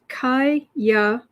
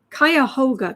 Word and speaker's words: Cuyahoga: That county is pronounced Cuyahoga. Cuyahoga County. Cuyahoga.